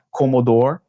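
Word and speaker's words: commodore: Ele não pronuncia o é no final, fica comodor.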